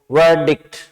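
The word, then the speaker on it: verdict: शब्द आ रहा है वर्डिक्ट। अब प्रोनाउंसिएशन पे ध्यान दें। मेन वर्ड हो गया आपका, यहाँ प्रोनाउंसिएशन हो गया पार्ट ऑफ स्पीच। तो वर्डिक्ट, इसमें र की ध्वनि नहीं है।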